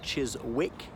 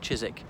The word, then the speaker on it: Chiswick: respected viewers I'm from Ireland I'm outside Chyzyk house in London so I know it might be spelt Cheers wick but pronounced Chyzyk so this is a stately home which was